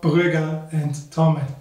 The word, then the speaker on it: Brügger Thomet: part of Switzerland and speak German, so Brügger Thomet.